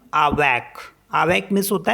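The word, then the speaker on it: avec: words में for example A वी ई सी इसको पढ़ते हैं हम आवक आवक मींस होता है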